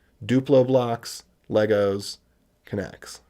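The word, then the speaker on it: Knex: postgres or whatever so i'm using connects which some people call next but i call connects because then you know how to spell it connects kind of maybe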